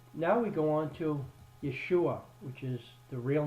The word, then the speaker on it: Yeshua: head anyhow so now we go on to Yeshua which is the real name of what Jesus